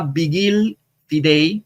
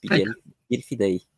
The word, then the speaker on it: Vigil Fidei: me dieron una idea y ahora se llama Vigil Fidei, o se escribe Vigil o Vigil Fidei, o el vigilante de la fe o centinela de la fe en latín, como quieran decir.